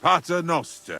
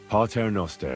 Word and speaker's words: Pater Noster: But it's la Pater Noster. Advente ad rec... Your turn. You're saying it wrong. Pater Noster.